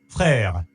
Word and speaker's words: frère: Miss, how to pronounce that? Have it. frère, Frère.